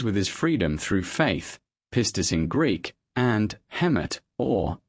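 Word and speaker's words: πίστις: This is how these two words are pronounced. Pistis.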